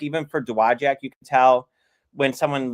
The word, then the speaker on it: Dowagiac: or in this area, they know it's Dowagiac. And you can, I was making fun of Joel. He might still be watching, but what did he call it one day? He mispronounced, and I went, that's not how you say it.